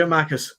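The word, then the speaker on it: Giakoumakis: Giamakis, it's no hard. Giamakis. Soft G.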